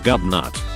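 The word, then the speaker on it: Gobnait: his name is ridiculous there's a pretty bad irish name gobnate pronounced gubnut my sister is a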